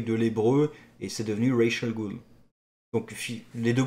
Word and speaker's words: Ra's al Ghul: Parce que c'est littéralement le nom Ra's al Ghul. Alors en arabe ça se prononce Ras al Ghul si je dis pas de bêtises.